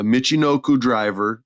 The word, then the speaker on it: Michinoku driver: I don't feel that they booked her well so far, but she did I'm going to say it wrong, a Michinoku driver.